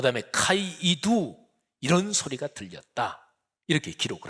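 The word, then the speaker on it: καὶ ἰδού: 아주 중요한 표현이 있습니다 헬라어로 발음하면 카이 이두 라고 하는 거예요 카이는 우리 말로 말하면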